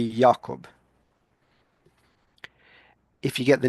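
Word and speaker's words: Jakob: because you would say you would you wouldn't say James, they use Jacob, but in German it would be Yakob.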